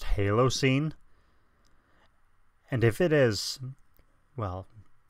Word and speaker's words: Halocene: sure like 99 sure that's pronounced Halo scene and if it is